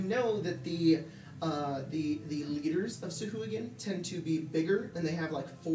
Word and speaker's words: sahuagin: I really hate that their name is just Say Who again. Mm-hmm. Was that I on purpose, like, do you think? Jack hates that pronunciation. I think he calls them like sahuagin or something like that. Yeah. But sahuagin. The official pronunciation is sahuagin, so.